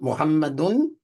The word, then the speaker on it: Muhammad: name in the Quran he pronounces it muhamad and muhammadan that's generic that little a sound and that un n Sound muhammadun that's generic if I want to